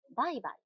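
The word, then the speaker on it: 売買: 排除。4 番、バイバイ。也是念成一型的。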